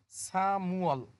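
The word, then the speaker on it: 삼월: যদি মিউমটা ইউং এর স্থানে চলে যায়, এটার উচ্চারণ হবে সামুয়াল, মার্চ মাস।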